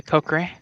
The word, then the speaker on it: Kokiri: I say Kokri. Like, it's almost like the sword, the Kukri, but I say Kokri, and don't worry about it.